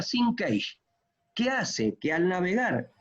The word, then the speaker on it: sinkage: Sincaje. Se pronuncia sinkage.